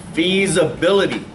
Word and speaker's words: feasibility: Feasibility. You see where they went right there? It's spelled with an S, sounds like a Z. Feasibility. Not fees.